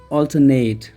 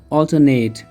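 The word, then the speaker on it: alternate: पहला वाला जो लिखा है ये है ऑल्टरनेट, ऑल्टरनेट। इसमें जो ये वाला सिलेबल है ना, इसको थोड़ा स्ट्रेस देना है, इसको ऊपर उठाना है, ऑल्टरनेट।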